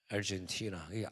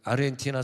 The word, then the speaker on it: 아르헨티나: 얼마나 기뻐합니까 얼마나 기뻐해 알젠티나 아르헨티나 사람들이 말이에요 그냥 우리나라는 참 좋은데 왜 우린 아르헨티나라고 발음하니까 미국에서 공부하는 애들이 헷갈려가지고 한국에서 아르헨티나로 공부했죠 미국에 우리나라의 발음이 단순하니까 우리나라 그러죠 어디까지 왔냐면